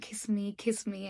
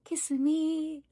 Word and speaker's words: Kissimmee: దారుణంగా ఉన్నాయి అని చెప్పి when I Google searched the pronunciation for this place properly, what it showed me is దీన్ని కిస్మి అని అనరంట, కసిమి అని అంటారంట.